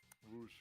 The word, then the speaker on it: Rouge: Yeah, Rouge. Rouge the Bat. Okay. Not Rogue, as other people have mispronounced.